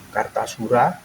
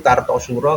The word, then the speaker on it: Kartasura: Karena kelenteng ini dulu perpindahan dari Kartasura ke Surakarta atau Surakarta. Sebenarnya bacanya yang benar itu Kartosuro karo Surakarta.